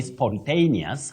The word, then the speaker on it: spontaneous: word Betty you say spontaneous now that a in that word takes its name as a a and that is exactly the sound that you use don't say spontaneous spontaneous